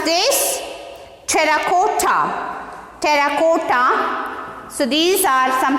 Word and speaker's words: terracotta: How to pronounce this? See here. T-E-R-R-A-C-O-T-T-A. double R A C O double T A. See here how to pronounce this? Terracotta.